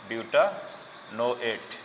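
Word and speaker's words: butanoate: বিউটা নো এট বিউটা নো এট।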